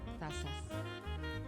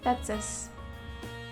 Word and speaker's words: tazas: Tazas. Tazas. Tazas. Ok, tazas. Ça se prononce comme si c'est un S.